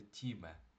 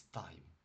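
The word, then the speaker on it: time: Наприклад, якби слово час читалося, як воно пишеться, ми би його читали тіме. Але слово час в англійській мові не читається тіме, а читається чомусь тайм.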